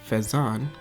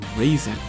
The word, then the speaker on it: Faizan: My real name is Phaethon, and apparently people found it difficult to pronounce.